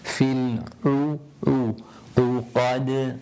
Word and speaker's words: الْعُقَدِ: A'u. Qul a'u. Fil uqad. And don't try to drag it out too much. Fil uqad. And then the dal at the end of the verse, which is a qalqala again, making it echo when you come.